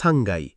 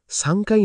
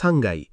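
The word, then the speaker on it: さんがい: 1 তলা ইক্কাই, 2 তলা নিকাই, 3 তলা সাংগাই। একটু থামো, 3 তলায় খেয়াল করো, সাংকাই না বলতে হবে সাংগাই। কাইয়ের জায়গায় গাই হয়ে যায়। এটা জাপানি উচ্চারণের নিয়ম।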